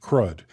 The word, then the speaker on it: CRUD: CR U often pronounced CRUD.